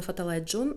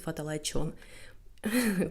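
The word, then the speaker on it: ฟ้าทะลายโจร: Как бы написано Фаталай Джон, но сами тайцы, они так интересно произносят Фаталай Чон.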